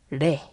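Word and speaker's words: 零: 제로라고도 할 수 있겠지만 0은 그 한자어 발음으로 레이 장음이에요 레이 이러시면 안 되고 데스턴의 나루 이런 식으로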